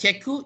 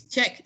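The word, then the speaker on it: cheque: QUE for British. So it's not pronounced as cheku, it's check. So the Americans use K.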